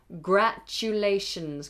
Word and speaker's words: congratulations: the word congratulations can congratulations congratulations always think about the word you like you in the middle congratulations congratulations and celebrations